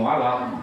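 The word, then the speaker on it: ولا الضالين: Ghairil maghdubi 'alaihim waladdallin. Apa tuh? Mat lazim muhafal tadi ini. Ya. Dibacanya berat. Tandanya mat tabi'i bertemu dengan huruf yang bertasdid. Tasdidnya asli. Itu namanya mat lazim muhafal tadi muhafal harus berat.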